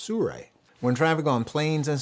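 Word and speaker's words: Sirui: 7c I know it looks like it's uh pronounced siru but it's actually pronounced Sur when traffic on planes and so on I'll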